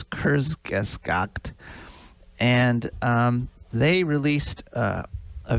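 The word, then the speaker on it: Kurzgesagt: k-u-r-z-g-e-s-a-g-t so i have no idea if i'm pronouncing it right but it's kurzgeskokt and um they released a video with the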